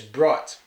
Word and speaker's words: brought: the camera right but for some reason when he said this like in a lot of a lot of these other words he drops the R sound but the problem with that is we kneecap the R sound here that's a completely different word so we'll be walking